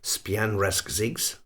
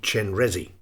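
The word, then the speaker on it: སྤྱན་རས་གཟིགས: A beginner would of course never ever guess that a halfway reasonable beginner's stab at pronouncing this Tibetan name written as, if I may say it, Span Rasigs would be Chenresi.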